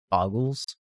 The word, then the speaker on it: Bogles: Boggles. Technically, they only have one G in them, but a lot of people like to say Boggles.